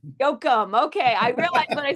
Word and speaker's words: Yochum: It's Yochum. Yochum.